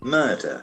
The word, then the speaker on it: murder: m d e r so that has got a very interesting pronunciation murder murder as we know the letter R is silent and the first letter M has got a sound also murder murder the crime